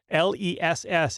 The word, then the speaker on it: Les: Just to make this clear here, L-E-S-S is how his name is spelled.